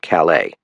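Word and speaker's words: Calais: I started the engine and turned the wheel east in the direction of Calala, pronounced callous in this part of the world on the Canadian border.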